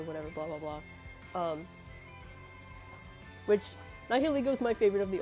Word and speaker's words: Nihilego: I was a kid, I thought it was pronounced Nihilego. That's how I pronounced it for the longest time, but I know it's Nihilego, because Nihil and ego, because it's supposed to